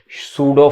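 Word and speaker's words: pseudo: इसे कह सकते हैं सूडो फोर्स। छद्म बल या इसे कहेंगे सूडो फोर्स। यहां इसमें पी साइलेंट है, भी ध्यान रखना पढ़ते वक्त।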